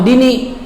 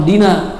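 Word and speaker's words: اهدنا: Jangan Allahumma hdini, tapi Allahumma hdina iman hadai, gitu ya.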